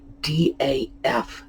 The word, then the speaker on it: daughter: area at least uh we know that the word daughter was pronounced dafter really interesting that pronunciation